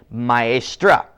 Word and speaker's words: maestra: And to say a lady teacher, you say maestra. So instead of maestro with the O sound at the end, you change it to maestra with the A sound at the end.